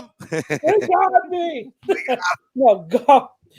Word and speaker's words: Goff: No, Goff.